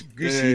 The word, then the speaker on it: Guzzy: I figured out how to pronounce Guzzy's name, which is Goosey. Hey, Guzzy.